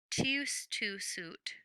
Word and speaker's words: tout de suite: Brother Quang remembers Father often said, "Tius tu sut," the Vietnamese way to pronounce the French phrase tout de suite, meaning right away.